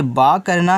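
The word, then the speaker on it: book: ही है यानी कि डबल ओ हो तो आपको पहले बी से बा करना है और डबल ओ से यहां बच्चों छोटा उ का मानता लगाना है और के से आपका क हो जाए यानी कि ए आपका हो गया बुक आगे बी आई आर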